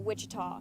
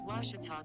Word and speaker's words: Ouachita: university back in texas everybody pronounces it wichita but really it's ouachita washington washington how would you pronounce it it's washita baptist university get it right it's